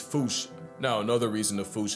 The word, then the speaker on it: fossa: But if you follow the Attenborough rule, Sir David would have had you saying Fossa. What if I told you both are technically wrong? Cause their name comes from the original Malagasy word, and apparently the correct way to say it is Fouche, Fouche, Fouche, like Fouche with a performance anxiety at the end.